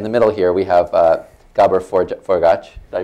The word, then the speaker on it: Gabor Forgacs: First of all, in no particular order except the order on my sheet, in the middle here we have Gabor Forgacs. Did I pronounce it correctly?